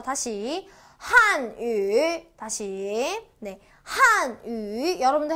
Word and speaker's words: 汉语: 이고요 중국어로는라고 읽어 줍니다 이거 우 아니에요 우라고 읽으시면 한우가 돼 버려요 어어 한우 아니죠 먹는 소고기 배고프죠 그래서 얘는 우 아니라 위라고 읽어 준다까지 기억하시면 될 거 같아요 자 다시 한위 다시네 한위 여러분들 해